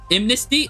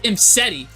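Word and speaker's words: Imsety: Imnesty? Oh, I don't know this thing. I don't know how to say this. Am I saying it wrong? Imseti? It's Imseti. Yeah, I said Imnesty.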